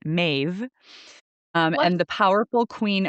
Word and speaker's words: Medb: So this site that I'm speaking of, the back to Cruachan, was ruled by Queen Maeve, is how it's pronounced. It's spelled Medb, but Maeve, What?